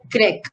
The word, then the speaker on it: grec: Masculine for Greg is Greg only. It is same like Turk.